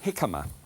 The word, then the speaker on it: jicama: Here is a jicama. It looks as if it should be called jicama, but it's not. It's pronounced, it's with a J.